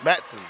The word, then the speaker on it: Matson: I mean Clark Martinez how do you say his last name Matson Matson sorry I said it all wrong Clark Matson um the